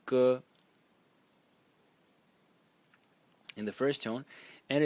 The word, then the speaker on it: 戈: The first one is this one and is pronounced G in the first tone and is some sort of a weapon.